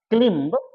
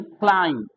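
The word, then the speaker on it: climb: इस तरह से लैम, दम, इधर हो गया आपका क्लिम्ब, इसको क्लिम नहीं पढ़ना है, क्लिम, क्लाइम, क्या पढ़ना है? क्लाइम, बी साइलेंट होगा, बी साइलेंट होगा, बी साइलेंट होगा।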